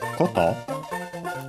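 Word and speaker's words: こと: Accent on the last syllable.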